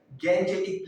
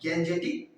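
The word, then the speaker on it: Gangetic: English pronunciation word जो है वो है गैंजेटिक प्लेन्स। क्या है? गैंजेटिक plains.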